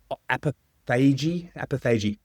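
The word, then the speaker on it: autophagy: starts to, now, is it, your listeners should write in again and tell me the correct pronunciation. Apathy, not apathy. It's apophagy.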